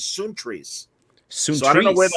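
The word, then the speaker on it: Sountres: spell it s-o-u-n-t-r-e-s because because uh the greek pronunciation is soon trees i don't know where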